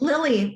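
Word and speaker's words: Lili: at your logo so is it Lily am I pronouncing it right Lily Lily yeah like the flower but spell l-i-l-i yeah okay so where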